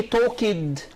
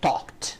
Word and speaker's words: talked: sound talked yes so here the ed is pronounced as t so we don't say talking no or no we say talked talked talked yes the